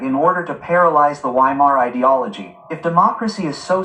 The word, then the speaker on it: Weimar: its own business to stop the Vimar ideology. Vhimar ideology not against democracy. The Vhimar ideology.